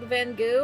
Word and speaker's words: Van Gogh: like what Van Gogh well that's not how it's actually supposed to be pronounced it's like van goo or something like that but I like